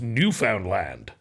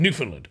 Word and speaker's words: Newfoundland: But that's just how you pronounce Newfoundland. Yeah. It's Newfoundland.